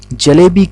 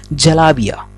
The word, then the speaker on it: जलेबी: जी हाँ, तो चलिए आज हम अपने खूबसूरत सा चैनल जनरल नॉलेज के द्वारा आपको बताते हैं कि जलेबी की शुरुआत कैसे हुई और इसका इतिहास क्या है।